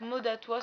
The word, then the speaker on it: Modatois: Donc sur le site Modatois, donc Modatois s'écrit comme ça se prononce, sans tirer, sans rien du tout.